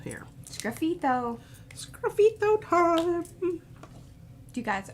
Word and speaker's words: sgraffito: All right, let's do a little sgraffito here. Sgraffito.